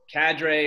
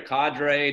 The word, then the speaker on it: cadre: so the the word cadre or cadre depending on how you pronounce it from what I understand of that word it's it's a French word and in the United